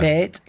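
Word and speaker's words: BATE: How do you say it? Bait? Barte. Barte? Yeah, Barte. So played in that.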